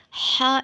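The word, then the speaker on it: ح: letter name is ha ha is dot less a similar shape ha is a light sound later it is pronounced from the middle of the throat so read after me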